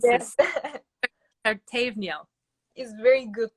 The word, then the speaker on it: Pertevniyal: high school, which Tuba tried to help me pronounce. Yes. Pertevniyal. Is very good pronunciation. Pertevniyal.